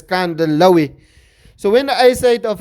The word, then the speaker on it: Kandhlawi: it as Kandihlawi, but the correct way is he comes from Kandla, so he pronounce it as Kandlawi.